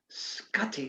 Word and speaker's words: Scotti: for joining us today i love the way you pronounce my last name scutty that's it it makes me sound